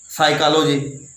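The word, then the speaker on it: psychology: साइकोलॉजी, साइकोलॉजी देखो एस से शुरू होना चाहिए, लेकिन वो पी से शुरू होता है।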